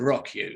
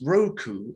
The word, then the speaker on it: Roku: really should be called rock you shouldn't it i mean why is roku pronounced roku as opposed to a rock you know i'd go with